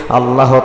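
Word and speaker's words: عَلَى: বললে কিন্তু হবে না আইনের উচ্চারণ সঠিক ভাবে আপনাকে করতে হবে আল্লাহুম্মা সাল্লি আলা মুহাম্মাদি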